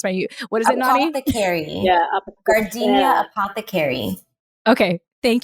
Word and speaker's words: Apothecary: No, Gardenia Apo the Carry. Oh my gosh. I bet people are like laughing right now. They're like, that is not how you pronounce my, what is it, Nani? Apothecary.